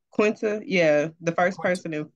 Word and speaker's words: Quinta: was dope too yeah and uh is it quentis is say her name Quinta yeah the first person in 40 years to